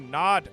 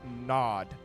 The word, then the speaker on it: Nod: and a lowercase OD I assume it's meant to be pronounced nod not nood so I don't think